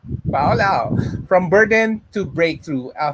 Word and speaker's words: Faulao: How do you pronounce Faulao? No? Perfect. FOMO. Faulao.